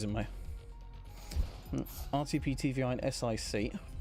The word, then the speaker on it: sic: RTP, TVI, and SIC. Pronounced like the word sick.